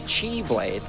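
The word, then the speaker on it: χ-blade: I so venitis now has the chi blade um which is like the Greek letter Kai and I don't know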